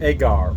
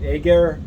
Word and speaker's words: agar: have our mode extract agar or Egger it really depends where you are in the United States how to pronounce that I will probably say agar um this is basically